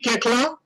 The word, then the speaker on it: Koechlin: Kalki Koechlin, welcome, and I hope I got the pronunciation right. Absolutely, you got it perfect.